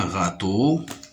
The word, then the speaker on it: râteau: La troisième image, c'est un râteau. Râteau. Râteau. Le mot râteau se compose de deux syllabes. Râteau. Ra, R-A, ra. T-E-A-U. Il me donne le son O.